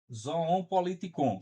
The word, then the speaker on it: zoon politikon: zoon politikon. Vocês podem escrever a pronúncia também, né?